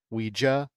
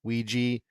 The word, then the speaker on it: Ouija: Ouija, Ouiji, tomato, tomato. It actually says you can pronounce it either way on the back of the board, which is kind of